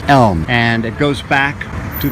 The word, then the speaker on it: Elm: The main street is not Main, it's Elm. And it goes back to the olden days, you could say, early part of the last century, where people were mispronouncing the street Elm and calling it Ellum.